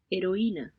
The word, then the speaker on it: heroína: Heroína. Heroína. Notice that they're not pronouncing the H. It appears to be silent. So it's more like heroína, heroína, heroína, heroína.